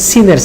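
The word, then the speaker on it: سين: জিহ্বার আগাটা ঠিক নিচের সামনের দুই দাঁতের গোড়ার সাথে লাগিয়ে বলতে হবে সিন।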